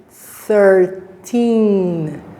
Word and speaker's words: thirteen: the stress stress means the strong syllable so 13 it's not 13. it's 13 right so how do we know that because we have the longer sound here 13.